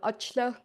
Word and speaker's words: Achla: I'm Achla. So key to pronouncing it correctly is to not pronounce A in the middle of the name and CH as ch. So Achla.